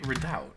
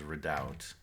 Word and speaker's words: redoubt: here's an interesting redout is it's redout isn't it what what what syllable do you put the access on Accent on let's look that up should be redout right yes that is what the dictionary says redout day 14 restroom